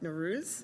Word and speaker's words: Nowruz: I have to say, that poster banner for Nawaz, am I pronouncing Nowruz?